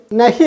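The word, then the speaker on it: नहीं: കൊണ്ടാണ് ഉച്ചരിക്കേണ്ടത് ന അല്ല ന കഴിഞ്ഞു വരുന്ന ഹി ഉണ്ടല്ലോ അത് മൂക്ക് കൊണ്ടാണ് ഉച്ചരിക്കുന്നത് അത് മൂക്ക് കൊണ്ട് നമ്മൾ ഉച്ചരിക്കാൻ ശ്രമിക്കുമ്പോൾ നൈ എന്നേ വരുള്ളൂ നൈ വായ് കൊണ്ടല്ല ഹി പറയേണ്ടത് മൂക്ക് കൊണ്ടാണ് പറയേണ്ടത് അപ്പൊ അതിന് ശരിയായ ഉച്ചാരണം കിട്ടും നൈ നൈ എന്ന് പറഞ്ഞാൽ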